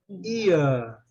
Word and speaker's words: ear: Ear. No inglês britânico, você vê que o R não é pronunciado, né?